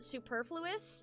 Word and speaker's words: superfluous: I think that's pronounced superfluous. Yeah. Yeah. The the the emphasis is on the purr.